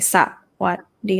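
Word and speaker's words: สวัสดี: We don't actually say sa-wat-dee. That's why we have the 2 desai after the first syllable because we're not gonna stress that one. So we say sawat. We don't say sa-wat-dee like that. We say sawat-dee.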